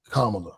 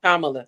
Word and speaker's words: Kamala: it's just because and let's let's say her name correctly kamla kamla sorry sorry racist people